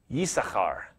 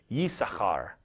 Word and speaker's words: Issachar: And you would have pronounced that Yisachar, so with a Y at the beginning, Yisachar, and the CH sound in there, you can see that.